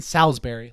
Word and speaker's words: Salisbury: You Jeff Barrow and Ben Salisbury, like Salisbury Steak.